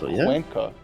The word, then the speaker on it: Cuenca: But Cuenca, okay, I guess hard C and all that.